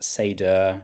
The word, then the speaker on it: Seidr: So an old Scandinavian name, it's pronounced Sedur and our managing partner Harry actually has Swedish roots and means wisdom and foresight in old Norse.